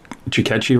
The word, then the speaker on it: Ticchetti: ufologist uh thiago chicacci did i say chicachi right perfect jaguar chicachi he is